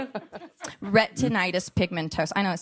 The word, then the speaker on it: Retinitis pigmentosa: Retinitis pigmentosa. I know it sounds like a Harry Potter spell. Retinitis pigmentosa.